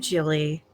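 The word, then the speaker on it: Gilly: Hi, I'm Jilly. You can find me at Oh Look It's Jilly most places on the internet. My name starts with a G. It's pronounced like a J. I understand that's confusing.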